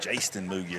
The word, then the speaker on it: Jasten Moogie: Jasten Moogie is how they say it here, so that's probably correct.